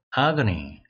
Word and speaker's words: agony: 아그니. 아그니입니다.